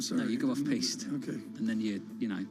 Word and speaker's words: piste: Is that how you pronounce it? You go off piste and then you. Oh, that was paste. I'm sorry. No, you go off piste.